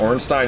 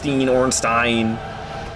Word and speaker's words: Ornstein: I'm already pronouncing Ornstein wrong. Ornstein.